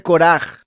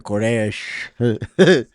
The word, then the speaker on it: Koraj: Hijos de Koraj. Tengo que asegurarme de pronunciarlo como eso. Que no me venga con que Koresh.